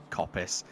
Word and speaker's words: coppice: bit of english is the word coppice if it's it's spelt cops it should just it should be cops but it's not it's coppice it's how i suppose